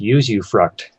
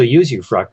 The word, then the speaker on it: usufruct: I believe it's pronounced usufruct.